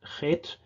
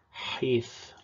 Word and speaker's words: heth: in Hebrew by, well, in modern Hebrew and in many traditions it's pronounced chet, but in original Masoretic and also Proto-Hebrew or Paleo-Hebrew, it was pronounced heth, so also from the back of the throat.